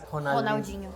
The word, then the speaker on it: Ronaldinho: The first R is always pronounced as h. Oh. Yeah. It's just the middle R that can be or But double R is pronounced h too. r. Yeah. H. Okay. So Ronaldinho is Ronaldinho.